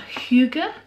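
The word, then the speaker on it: hygge: back it says this Scandinavian concept pronounced huger helps their march be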